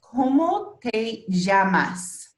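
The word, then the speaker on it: cómo te llamas: And it's pronounced como te llamas. Como te llamas. Como te llamas? Yeah, awesome. And so this this like double L here is an actual its own letter, and it's called EJ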